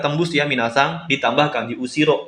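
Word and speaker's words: 後ろ: Karena ketika kanji belakang ini itu ditambah dengan hiragana D setelah kanjinya, itu tidak dibaca usiro minasang.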